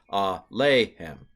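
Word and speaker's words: אֲלֵיהֶם: Typically with this kind of a pronominal preposition and a pronominal suffix with a yod in the middle, typically the middle syllable, the yod syllable, is accented. Alehem is the typical way.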